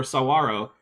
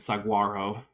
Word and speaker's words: saguaro: Roshan, a lipstick to Equiskeller for $4.99 says, or listen to people pronounce Tempe or Sawaro. I'm assuming that they're pronouncing it Saguaro.